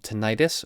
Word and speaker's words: tinnitus: you've probably heard of something called tinnitus or tinnitus the official organization of tinnitus refers to it as tinnitus so I'm going to use that pronunciation but tinnitus is something